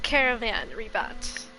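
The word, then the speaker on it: Caravan Ribat: I keep saying caravan after I made fun of all hate them saying because it's caravan reebot.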